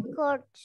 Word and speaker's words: church: I look at church. Okay, misalnya I look at church atau I see a church. Bukan church ya bacanya ya. Ingat U itu dibaca A panjang church.